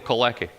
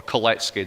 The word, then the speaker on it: Kalecki: economist from Poland called Mikhail Kalecki, or Kalecki, depending on how you want to pronounce it.